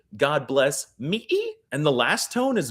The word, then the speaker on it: Mỹ: It's pronounced like ma, Ma? And the best part is that the word for America in Vietnamese uses this tone. Mỹ, God bless, Mỹ.